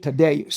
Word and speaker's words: Tadeus: I'm chilling with Tadeus in the studio. Is that how you say it? Tadeus.